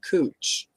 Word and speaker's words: Couch: And if you look at the spelling of it, it's couch, but they pronounce it cooch.